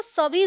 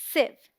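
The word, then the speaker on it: sieve: है आते की छलनी मोस्टली लोग इसे सी बोलते हैं जो की गलत प्रनंसीएशन है इसमें आई का जो साउंड है वह शॉर्ट है शॉर्ट मतलब जल्दी से बोलेंगे खींच के नहीं एस आई ए वी ए इस वन सिलेबस और साउंड लाइक सिर्फ एक इन लाइव सो D right pronunciation इस सेफ सेफ मैंने एक शब्द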